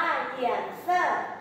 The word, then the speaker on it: 颜色: คะ ฝี อ่ะ ฝี ภาษา จีน อ่าน ว่า เหยี่ยน เซอร เหยี่ยน เซอ เหยี่ยน เซ่อ